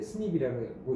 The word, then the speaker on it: SNP: 그래서 미스가 나는 고러한 변이를 우리가 이제 스닙이라고 읽고 표현은 SNP라고 하고 있습니다.